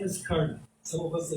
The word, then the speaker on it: Karna: His name is Karna. Some of us will say Karna. Right? Sanskrit word, you have to pronounce the last A in the syllable. Right? His name is Karna.